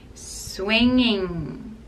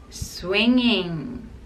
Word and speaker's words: swinging: Swinging, swinging. In that word, the sound happens twice, so you have to use the nasal sound. Swinging, swinging. And don't pronounce the G sound.